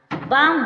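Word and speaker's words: balm: talk में के से पहले एल आया एल साइलेंट रहेगा टॉक मींस बातें करना काम काम मींस शांत बाम बाम मींस मलहम का का मीस एफ से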